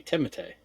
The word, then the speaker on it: Timothée: No, it's Timothée. Timothée? No, it's Timothy. No, I mean it's French. It's supposed to be Timothée.